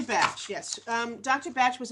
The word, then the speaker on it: Bach: the easier it is so if it's easy to say Bach it's easy to say Bach okay but Dr batch yes um Dr batch